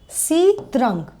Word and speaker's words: Sitrang: किया है चित्रण को जिसको प्रोनाउंस किया जाता है sitarang Hindi Thai language S